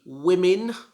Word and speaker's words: women: some of you but i always hear this pronounced like woman like one woman but this is the plural for woman and it is pronounced differently it should be women like there are two women over there number 18.